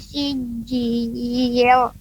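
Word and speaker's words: سجيل: Tarmihim bihijaratim min sijil. Nah, sebentar, ada jihan. Tadi pengucapan tar, ya, tar, mihim, kemudian sijil, tidak tebal. Lamnya sijil, nah, tidak, tapi tipis.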